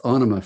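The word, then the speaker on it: Ænima: album names but uh onoma is that how you animate that's how that's how maynard says it he's the writer so it's onoma for him i i've been saying anema before so onoma in 1996 uh is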